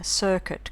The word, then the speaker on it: circuit: pal suit, sweet, ruin, circuit, conduit rhyme with shirk it and beyond it, but it's hard to